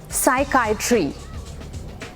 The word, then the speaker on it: psychiatry: A part of medicine that studies mental illness, उसको बोलते हैं psychiatry.